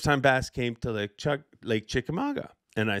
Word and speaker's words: Chickamauga: But years ago, when I first started emceeing for Bass, the first time we ever went to Chickamauga, Lake Chickamauga, which I can say very, very well.